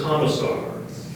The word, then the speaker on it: commissar: a i g a tiger the word is commissar commissar can you oh never mind can you